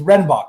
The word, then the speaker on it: Redenbach: name a lot wrong it's redenbach right yes yes yeah okay i was always